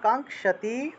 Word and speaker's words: কাঙ্ক্ষতি: নং খিয় আছে তাহলে ন কাঙ্খ কাঙ্ক্ষতি এটা উচ্চারণ হবে ন কাংশতি সামা উচ্চারণ হবে সামা